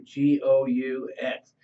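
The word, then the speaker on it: Goux: His name was Marv Gou, G-O-U-X. It's a French name, so but pronounced Gou, and he was known as the Intimidator.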